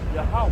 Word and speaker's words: Yahawah: Yahawah is his name. Not Jehovah, not Yahweh, not God, not Lord. It's Yahawah.